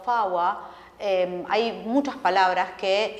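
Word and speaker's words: four: que se pronuncia naina el número cuatro faa eh Hay muchas palabras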